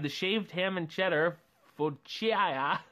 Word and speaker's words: focaccia: Or you can have the shaved ham and cheddar focaccia. Oh, I'm so bad with pronouncing food. It's so horrible. Yeah. Focaccia? There you go.